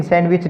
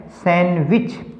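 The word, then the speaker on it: sandwich: सैंडविच हम क्या कहते हैं? सैंडविच, लेकिन सैंडविच नहीं है, ये क्या है? सैंडविच, सैंडविच, क्योंकि डी तो साइलेंट है।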